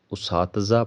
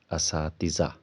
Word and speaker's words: اساتذہ: تلفظ کے طور پر اساتذہ پڑھا جاتا ہے، یعنی الف کے اوپر پیش، جبکہ درست تلفظ الف کے اوپر زبر ہے۔ الف کے اوپر زبر،